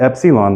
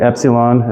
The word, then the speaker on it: epsilon: me on that one like the I and met like I met you last week at the restaurant that's the light E versus a okay